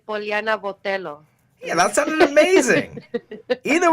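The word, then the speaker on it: Poliana Botelho: How do you pronounce this girl's name you're fighting? Poliana Botello?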